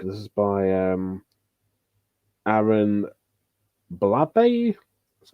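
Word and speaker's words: Blabey: on the book this is by um aaron blabbe that's how you pronounce it and the same director of um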